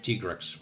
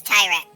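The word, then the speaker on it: Tigrex: still pronounce it as tyrex. I do not care. I know he's official. Look, I know it's I know it's official. They said officially it's Tyrex, but but T-Rex just sounds better.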